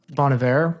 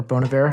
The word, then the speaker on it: Bon Iver: I love Bon Iver, or Bon Iver, however Oh, you say his name.